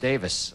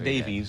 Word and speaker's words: Davies: Ray Davies composition pronounced Davis that's right we learned that when he was here not Davies Davis although it's spelled Davies he pronounces it Davis early Kinks though yeah